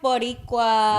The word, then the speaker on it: Boricua: Powerpuff Boricua.